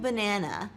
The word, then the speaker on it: banana: Try saying banana and notice the uh sound in the middle.